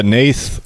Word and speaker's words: Nath: Nate also has a, how do we pronounce it, Nate? Nath? Yeah, Nath of the Gilt Leaf, Elf Tribal.